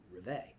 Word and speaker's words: Rivay: call your brand Rivet, but the French would pronounce it Rivay.